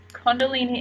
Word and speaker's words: Kundalini: showing Kundalini any no I'm saying it right Kundalini energy is a high very high frequency and